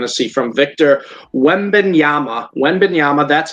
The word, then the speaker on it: Wembanyama: Wembanyama, that's how I've seen how to pronounce it.